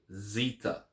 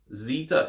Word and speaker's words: Zeta: first one is Zeta Zita Zeta is pronounced as in pronounced with a zed sound as in zebra Zita Zita the next